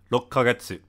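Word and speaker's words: 六ヶ月: Rokkagetsu. It's kind of like a ka, not a ke.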